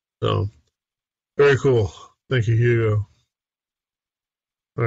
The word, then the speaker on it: Hugo: So the next item is from Hugo or Ugo. Is it Ugo? Dufort. What is the proper pronunciation? Do you pronounce the H like Hugo? Or is it I think in French you would pronounce Hugo Dufort.